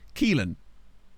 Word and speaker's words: Keelan: Apparently, I have on good authority from the Discord that this name is pronounced Keelan. We've arrived at Keelan. I have it on good authority. Spoonerman's told me that it's Keelan or Kalen.